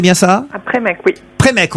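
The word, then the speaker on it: Prémesques: Premesque, on ne prononce pas le S, donc.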